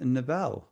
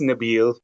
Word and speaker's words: Nabil: And next up we have Nabel. I hope I'm saying that right. Oops. No, you're not, but that's okay. You know, Sorry, how do you say your name? it's Nabil. Nabil.